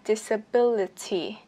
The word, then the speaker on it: disability: Nhưng trọng âm thì vẫn phải nhấn vào âm tiết thứ 3 là âm B cho mình.